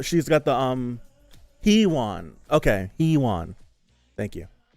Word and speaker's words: Huiwon: Okay, Huiwon. Thank you. It's spelled Huiwon.